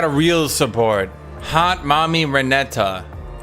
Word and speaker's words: Renata: real support hot mommy reneta not renata reneta he couldn't he